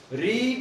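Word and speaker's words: read: की क्या होती है रीड रीड रेड रेड रीड की तीनों फॉर्मेट बोलने में अलग है वैसे लिखने में तीनों फर्मेट रीड रेड आरई एडी एक रेड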